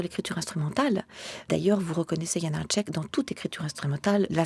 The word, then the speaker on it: Janáček: Son nom lui-même est déjà de la musique, Janacek. Vous avez cet appui qui devient un élan sur la première syllabe, vous avez une voyelle longue, et le reste n'est plus que de la liberté.